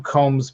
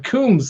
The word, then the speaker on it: Coombs: last night because i i don't call him combs by the way johnny i call him ben coombs because that's how you pronounce it two o's i know you guys